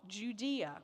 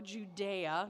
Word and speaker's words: Judea: and in the south, Judea, or Judea, depending on how you want to pronounce it, from the north, south, east, or west.